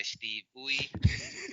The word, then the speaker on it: Steve Uy: Yes, we've got Avengers The Initiative, issue 6, written by Dan Slott with art by Steve Uy. That's how you pronounce it.